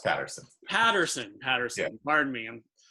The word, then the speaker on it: Patterson: P P am i pronouncing that correctly it's pronounced Patterson Patterson Patterson Martin ma'am how did that come